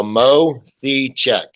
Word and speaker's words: Moiseichik: off my brain well just uh pronounce all the i's is ease and make it simple for yourself so mo c check mo c check we'll